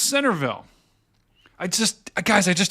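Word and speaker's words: Centreville: G says it's yep it's spelled cille but pronounced Centerville I just guys I just don't get it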